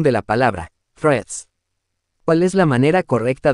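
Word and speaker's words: Threads: y memes no obstante el nombre se pronuncia como Friends es decir que se suprime la fonética de la letra a tal como indica el diccionario de Cambridge Cuáles son las funciones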